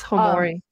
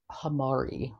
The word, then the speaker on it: hamorii: It's Hamorii. Hamorii. Formictopus. No. So, guys, like, I butchered the Formictopus name.